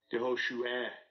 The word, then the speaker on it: Yehoshua: and if you want to know how to pronounce it, Strong's H3091, Yehoshua, Yehoshua, and second entry, Yehoshua, Yehoshua.